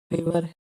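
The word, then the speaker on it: favour: फेवर एफ ए वी ओ यू आर फेवर में एफ एफ के बाद ए आया है। फिर कंसोनेंट आया है। फिर डबल वोवेल आया है। इसलिए इसमें ए का उच्चारण ए होगा।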